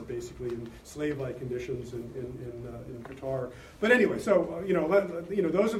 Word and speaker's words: Qatar: in the United States to Qatar, or Qatar, as my Arab clients tell me to pronounce it, to Qatar to be